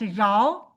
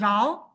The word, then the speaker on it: rho: We use Greek letter rho, its pronunciation as rho. It is not P, it is rho.